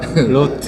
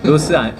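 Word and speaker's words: Roth: 그리고 지금 오영환 선수가 제대로 발음을 했는데 로트 로트 로트 로스 로스 아니라고 합니다 혼났어요 로트에 로트 우리 그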